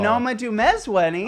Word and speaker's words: Noma Dumezweni: Noma Dumezweni.